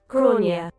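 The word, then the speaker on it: Gráinne: Oh, it is Irish. Gronia. Gronia. Okay. Her name is Gronia. Okay. Not Grain.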